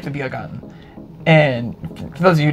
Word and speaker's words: Biergarten: that I pronounce it Biergarten and she pronounces it Beer Garden is because I was learning German for a while, so I know how it's pronounced in German.